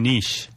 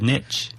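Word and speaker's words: niche: it yeah yeah and I will praise you for pronouncing nish Oh probably you have to learn that why you were here no no no I thought Americans all said nitch no no no I'm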